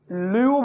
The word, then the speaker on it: lieu: ये जो लू है, इसके स्पेलिंग ये होते हैं LIEU, जिसको हम ल्यू बोलते हैं।